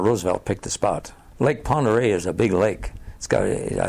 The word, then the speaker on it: Pend Oreille: was on located on Lake Pend Oreille or pond Rio whichever way you pronounce it they're in your name I think is pend oreille and I think the name most people said upon the real the Indians named Farragut